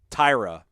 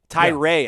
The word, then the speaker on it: Tyree: and this is uh tyra tyree actually is the way it shows on the website it says pronounced tie all caps t-i-e and then ray lower case r-a-y so tyrone ray sorry